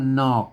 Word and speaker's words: หน๋อก: อ่าน ว่า อะไร น่ะ บาง คน ไทย ไป อ่าน ว่า อะไร อ่าน ว่า นอก นะ ครับ นอก ถ้า มัน มี ห่อ มัน นอก แล้ว ก็ มา อัน นี้ มัน ห น มัน ก็ นอก นะ ครับ นอก แล้ว